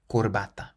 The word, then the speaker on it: corbata: word means tie and the C is pronounced like a k because it's followed by an O corbata the eighth word qu